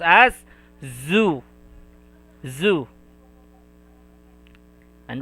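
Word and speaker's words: ず: If you will put a 1010, it will be pronounced as zu, zu.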